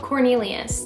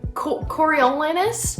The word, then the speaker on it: Coriolanus: half of the book I called Cornelius that's not his name it's like coriolanus I don't know I'm